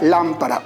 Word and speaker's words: lámpara: Como por ejemplo la palabra lámpara. Observa dónde se encuentra la sílaba que tiene la mayor fuerza de voz. ¿Te das cuenta el lugar en el que se ubica? Por lo tanto, tenemos que colocarle tilde.